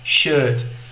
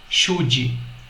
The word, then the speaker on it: should: sobre o verbo modal should. Muita atenção na pronúncia. Should. A letra D que vem ao final desse verbo modal é muito suave.